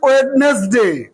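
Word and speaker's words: Wednesday: আমরা বলি ওয়েডনেসডে, ভুল উচ্চারণ। বলো ওয়েডনেসডে, ওয়েডনেসডে, Saturday, Sunday, Monday, টিউসডে, ওয়েডনেসডে, ওয়েডনেসডে না, ওয়েডনেসডে, থার্সডে।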